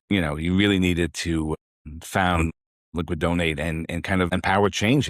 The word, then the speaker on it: LiquiDonate: So today we welcome Disney Petit, who is the founder and CEO of Liquidate, or am I saying it right?